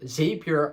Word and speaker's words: Zapier: one side and Z zapier on the other side I sometimes say it wrong but it's make and zapier well both of them